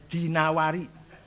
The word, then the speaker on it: Dinawari: Was Ibnu Qutaibah Adinawari jangan addinuri bacanya ya dinawari jangan addinuri enggak ada kota Dainur ada dinawar dinawar he alasma enggak Ada asmi.